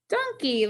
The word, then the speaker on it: donkey: Digraph EY, we talked about yesterday. The E makes the long sound. The Y is silent. Let's find the vowel pattern. We have O and E with two consonants. This is the VCCV pattern. The O is closed in, so it'll get a brevy. Don, donkey, like the animal. That first syllable is accented.